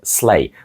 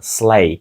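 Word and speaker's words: sleigh: на яких катаються діти отже слей дуже цікаве в написанні слова тому що в кінці літери GH і вони ніяк не вимовляються ми просто кажемо сay закінчуючи останній звук на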